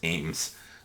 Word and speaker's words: AEMS: It's also a hollow sun uh AEMS or the initials, but they apparently is pronounced Ames.